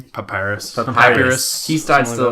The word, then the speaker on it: Papyrus: Papyrus.